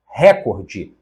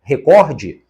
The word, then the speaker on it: recorde: mas veja as demais récorde erro caço de língua portuguesa O correto é recorde e a última catéter